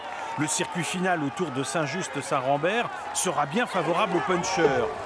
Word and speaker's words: Saint-Just-Saint-Rambert: Ah, ils disent Saint-Just-Saint-Rambert ? D'accord, non, c'est Saint-Just-Saint-Rambert qu'on prononce normalement.